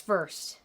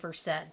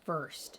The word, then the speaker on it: Versed: It's Versed. But don't go back to my old videos when I said Versed, because that's how you pronounce the drug. And this is Versed.